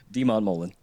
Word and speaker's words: deMontmollin: Demon Mullen. Everybody has problem. I hate mispronouncing people's names.